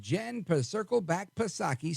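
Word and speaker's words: Psaki: put a circle back pasaki silent p on her Show on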